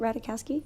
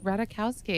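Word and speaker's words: Ratajkowski: say it right emily radical rowdy say it ratakowski ratakowski yeah she um is super hot and has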